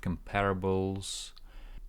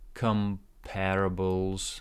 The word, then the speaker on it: comparables: look look look at look at comparables comparables stress here comparables look at comparables hard